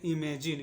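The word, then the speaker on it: imagine: का उच्चारण होगा न और ई का कोई उच्चारण नहीं होता है जब भी लास्ट में ई आता है और उसके एक अक्षर के पहले आई आए या ओ आए या य आए तो इ का उच्चारण हम लोग नहीं करते हैं ठीक है तो इसको हम लोग पढ़ेंगे इमेजिन इसको पढ़ेंगे इमेजिन ई मेजन ठीक है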